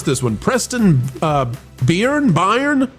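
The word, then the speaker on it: Byrne: Byern. How do we say it? Burn. Burn. Okay. Well, a U would suffice then.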